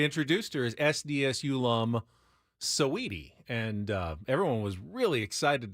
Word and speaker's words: Saweetie: Can anyone tell me about, I don't know if it's pronounced Saweetie or Sweetie? She was Saweetie. Saweetie.